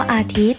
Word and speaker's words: อาทิตย์: อย่าง นะ คะ คำ ว่า อาทิตย์ เรียก ว่า ว่า โย การันต์ หมาย ถึง ตัว ใหญ่ ยักษ์ ซึ่ง ไม่ ออก เสียง ข้อ มี ทัณฑฆาต กำกับ